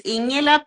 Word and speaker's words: Ingela: Can you pronounce your name the way it's meant to be said? Yes, it's Ingela P.